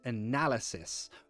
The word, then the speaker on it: analysis: lies ah no lies analysis you put the stress on nah sorry hiccup analysis analyze it's all about the stress of the word that's all it's really